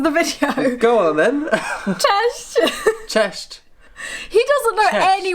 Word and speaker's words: cześć: Cześć. Cześć. He doesn't know any words in Polish apart from cześć. Yes. No, it's cześć, hey.